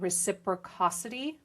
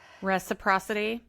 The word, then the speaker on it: reciprocity: They represent kindness and reciprocosity, I think is how you pronounce it. Reciprocity.